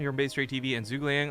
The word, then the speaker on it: Zhuge Liang: Protoss he is fear the best advice I ever got to pronouncing his name correctly was tried to see zergling as if you had a stuffed up nose so exactly yeah yeah